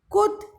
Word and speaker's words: could: Could, L is silent.